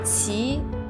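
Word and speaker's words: 齐: The word Qi is pronounced in the same way as the word Qi for our belly button in Chinese.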